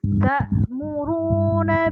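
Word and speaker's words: تَأْمُرُونَ: Ta'muruna bil ma'rufi wa tanhauna 'anil munkar. Nah, tadi di bagian ta'muruna bil ma'ruf itu tadi dihidupin ta'murunya. Tadi bacanya tamuru.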